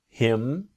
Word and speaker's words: him: her to er is native speakers don't always pronounce the letter h when we speak quickly here for example i can ask him i can ask him ask him so train and